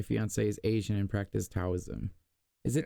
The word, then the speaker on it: Taoism: is Asian and practice Taoism. Is it Taoism or Taoism? I believe it's pronounced with the D sound.